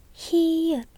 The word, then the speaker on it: 히읗: nét Đúng 1, 2, 3, 4 Đúng, ㅍ phát âm [p] và tên là 피읖 được rồi, cuối cùng là 히읗 vẽ một đường thẳng từ trái sang